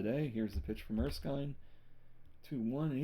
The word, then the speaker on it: Erskine: Pearl Arsine and I said his name wrong. Carl Erskine and Harvey Hadex are still on the mound in a two- two game.